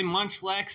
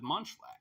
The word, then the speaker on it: Munchlax: right here okay and the word attacks kind of rhymes with Munchlax it sure does yeah